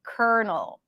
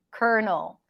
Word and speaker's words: colonel: listen up kernel kernel lieutenant colonel kernel so this is what it actually sounds like corn kernel and lieutenant colonel pronounce the same kernel kernel kernel urgent